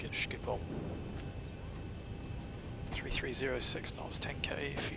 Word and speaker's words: Schiphol: Let's go to Schiphol.